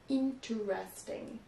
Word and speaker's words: interesting: avoir tendance à prononcer interesting. You articulate too much. So, this is a fun word because it has an optional pronunciation as well.